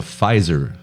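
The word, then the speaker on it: Pfizer: one of the vaccines it's called the fiser vaccine PF Iz there's a silent P yeah crazy I had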